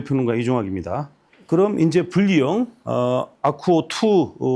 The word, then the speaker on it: AQWO: 그럼 이제 분리형 아쿠오 2 제품에 대해서 이제 소개하도록 하겠고요. 제일 처음에 소개할 것은 이제 T 아쿠오 2 요건데, 여기서 참고로 이제 아쿠오라는 말이 AQW5기 때문에 이게 무슨 약자인가 이렇게 봤거든요.